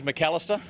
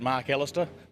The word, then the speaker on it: Macalister: as he calls it yeah the name is McAlister if you want to pronounce it mark Alister but to make a name for himself in any future Parliament mr.